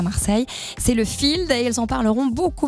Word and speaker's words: FIEALD: Alors, qu'est-ce qui se cache derrière ces lettres du Field ? Je peux y aller comme tu veux. Voilà, vas-y. Alors le Field, ça s'écrit F-I-E-A-L-D, donc pas comme ça se prononce, et ça signifie Festival international d'expression artistique libre et désordonnée.